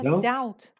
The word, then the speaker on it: doubt: And he doesn't express His doubt. Doubt, yes. Doubt. You don't pronounce the B.